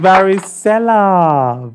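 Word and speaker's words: varicella: of the week is it's varisella varisella varisella and varisella is spelled v a r i c l l a v a r i c e l l a varella this is just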